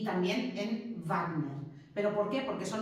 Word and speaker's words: Wagner: Y por eso en castellano todavía, en fin, hay gente que dice Wagner, y lo dice muy bien. Pero si queremos pronunciarlo como se pronuncia en alemán, pues al final acabaríamos diciendo eso.